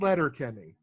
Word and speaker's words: Letterkenny: called again it's called Letterkenny and I am how do you say a letter like sending a letter Kenny like the word the name Kenny Oh Kenny Kenny write all one word yeah the last thing